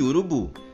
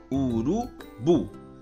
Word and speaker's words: urubu: oxítonas turma as palavras oxítonas são aquelas palavras que possuem a última sílaba como sendo a sílaba tônica Ou seja a última sílaba é a sílaba mais forte como por exemplo nas palavras café Cipó guaraná Saci chulé e urubu percebam que todas essas